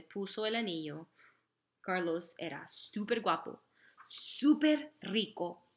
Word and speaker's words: súper: Y era súper guapo, súper rico y súper popular. Súper is spelled the same way as English, but it has a U in there. U, an accent on the U.